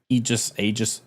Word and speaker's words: Aegis: Aegis. That word's pronounced.